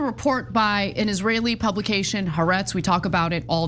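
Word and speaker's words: Haaretz: So, uh, this is a report by an Israeli publication, Harets. We talk about it all the time. I know it's pronounced arets. I'm going to pronounce it like an American would.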